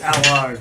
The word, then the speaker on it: Allard: And then we got Andy Allard. It's good. Did I pronounce that right? It's Allard.